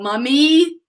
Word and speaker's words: mummy: Mummy. The same pronunciation for mom, your mom, but with O in the US, with U in British English.